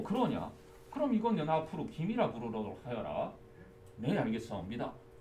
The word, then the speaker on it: 김: 말라고 했어 왜냐하면 kim을 하는 순간 외국인들이 킴 이렇게 힘 그러잖아 그래서 김 요게 김 발음이 맞아요 너희들이 즐겨 먹는 김